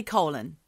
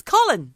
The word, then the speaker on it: Colin: myself to say no don't say Colin it's Colin Colin Powell yeah Jesus this is